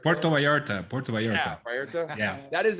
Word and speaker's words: Puerto Vallarta: was i what how what how do you pronounce it puerto vallarta puerto vallarta puerto vallarta yeah that is a very humid